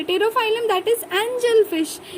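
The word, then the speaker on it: Pterophyllum: दूसरा पेट्रोफाइलम that is टेरोफाइलम, sorry P again silent है, टेरोफाइलम that is angel fish.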